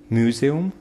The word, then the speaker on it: museum: Museum, museum, museum, museum. Okay, не подходит. Museum. Именно на museum, museum, museum. So remember the stress in the word museum, музей.